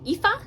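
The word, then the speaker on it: Aoife: Uh, I was calling her ETH, but it's actually EA, if I'm doing that correctly.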